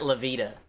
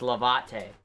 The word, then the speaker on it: lávate: It's not lavita. It's lavate. Okay, so it's lavate las manos. So if I want to get the pronunciation right, it's levate, like levitate, not levita loca.